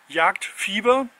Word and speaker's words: Jagdfieber: Yeah, it's actually written like, well, the British and the English speaking Americans, they would pronounce it fiber, JagdFIEBER, because it's EE, but it means hunting. Fieber is, it's like a fever. It's hunting fever, translated word to word. Yeah, so it's JagdFIEBER.